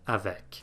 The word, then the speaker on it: avec: in unlike other consonants a word final c is sometimes pronounced usually if there's a vowel before it as in the word avec this isn't always the